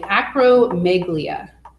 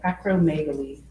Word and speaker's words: acromegaly: Acromegaly. Yes, so that's how you spell it. Sorry, acromegalia. Megaly. Acromegaly. I was saying it wrong.